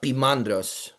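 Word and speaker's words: Poimandres: than to to poandrous because the the um omicron uh y the o and the i that's a dip thong. So anytime you see that you're not pronouncing the o and the i separately. You're kind of ignoring the o. So in in the Greek that is that you know or or Coptic either it's uh pimandras pimandros.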